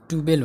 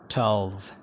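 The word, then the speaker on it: twelve: ट्वेल्भ, ट्युबेल होइन ट्वेल्भ, ट्वेल्भ।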